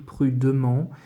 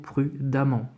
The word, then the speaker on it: prudemment: par contre attention ici je pourrais lire prudement mais en langage habituel on va dire qu'on dit toujours prudemment d'accord donc même si j'écris prudement jeu doit prononcer prudemment savamment ça va de soi mais attention prudemment je doit prononcer à à la place du d'accord je n'oublie pas